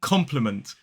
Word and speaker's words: compliment: same way they are both pronounced as compliment three syllables the stress falls on the first so that first syllable